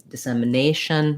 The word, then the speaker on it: dissemination: one so nation so words that end in ation asian that's one of the few extremely consistent patterns in american english for pronunciation and intonation in that we always stress that a syllable so intonation communication dissemination that a is always going to be long and it's that long a diphthong that i was talking